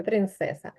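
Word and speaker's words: princesa: папа принцеса принцеса принцеса Так треба вимовляти як с тому що в іспанській мові звука ц немає в жодному слові принцеса Сірко і принцеса Ну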